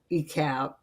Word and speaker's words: Icalp: So I spun that name around and pronounced it E-Cab.